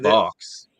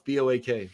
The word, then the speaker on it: Boak: Anyway, so not Box. No, it's Boak. So it's spelled in this, unless it's a different version of that character.